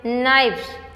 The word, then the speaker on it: knives: So the spellings which is left K-N-I-V-E-S. Now it will read as knives. What is the pronunciation? Pronunciation is also changing.